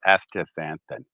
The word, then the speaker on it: astaxanthin: a t h i astaxanthin that's how you say it after santan so yeah put that